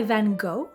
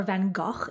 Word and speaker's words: Van Gogh: so we have a painting by van gogh or van gaach if you want to pronounce it correctly called la bercuz which